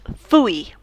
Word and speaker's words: fui: Fui, I went. It sounds different to foi. Foi is he, she, you went, você. Ele foi, ela foi. It's slightly different. It's eu fui, eu fui.